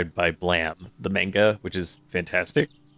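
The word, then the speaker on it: Blame!: I'm in in the blame or well it's spelled blame but it's pronounced blam just because strange anime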